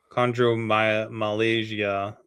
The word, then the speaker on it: chondromalacia: She's like Malaysia, the country.